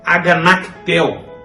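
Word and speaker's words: ἀγανακτέω: no z conforme estar e a pronúncia é a ganache Téo e a carretel significa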